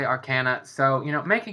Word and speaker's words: Arcana: say Arcana and not Arana like a lot of people say or Arcana um I mean the word is based on the word Arcane so I like to say you know the correct way but I will you